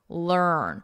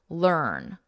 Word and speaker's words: learn: of a sound, or you can just think of the vowel is just not even there, and it's earn, learn. Whatever is easier for you to remember the sound, learn.